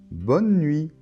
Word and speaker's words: bonne nuit: von euw bonne et la lettre t final ne se prononcent pas non plus bonne alors une autre